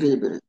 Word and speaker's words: scrivere: আমি কিন্তু এস উচ্চারণ করছি, কিন্তু এস বলি না এভাবে, এস, এসটাকে উচ্চারণ করছি কিভাবে? স্ক্রিবেরে। বোঝা যায় যে আমি যে এ বলছি। Scrivere, scrivere, যদি বলেন স্ক্রিবেরে, তার মানে এটা আরেকটা বেরবো আছে, সামনে আই থাকলে স্ক্রিবেরে রেজিস্ট্রেশন করা।